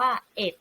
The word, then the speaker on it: เอ็ด: แบบ นี้ นะ คะ ครู เคย สังเกต ว่า นั่น หลาย ๆ คน เวลา เห็น เลข หลัก หน่วย เลข 1 นัก เรียน จะ อ่าน ว่า หนึ่ง แต่ ความ จริง แล้ว ถ้า เป็น จำนวน แบบ นี้ เรา จะ อ่าน เลข 1 ใน หลัก หน่วย ว่า เหตุ นะ คะ เช่น จำนวน นี้ คือ 9600 เอ็ด ค่ะ คราว นี้ เรา